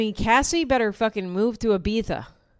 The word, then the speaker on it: Ibiza: Dude, Cassie better fucking move to Ibiza. That's how you say it, by the way, because I'm semi-intelligent. The Diddy jurors would have called it Ibiza.